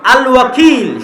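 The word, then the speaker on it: الوكيل: তো আল্লাহ বলছে আমি উকিল। আল ওয়াকিল। শুদ্ধ উচ্চারণ।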